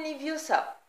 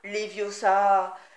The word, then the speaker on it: Leviosa: C'est Leviosa, et pas Leviosa.